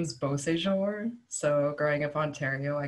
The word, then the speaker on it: Beausejour: live in Quebec and if I say my name with an English accent cuz that's like how I've been raised people are just like what's your name maybe like and they'll be like